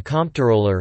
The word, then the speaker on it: comptroller: in checking financial Ledger's this etymology explains why the name is often pronounced identically to controller despite the distinct spelling however controller is sometimes pronounced phonetically by those unaware of the words origins or who wish specifically to avoid confusion with controller topic business role a